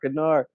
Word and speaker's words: Kanar: Yeah, it rhymes. Damar, Kanar. And I thought the same thing before Quark said it.